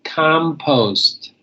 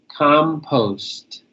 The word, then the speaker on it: compost: Next one is compost. Compost. Compost. Post, make sure you put the T on there. Compost.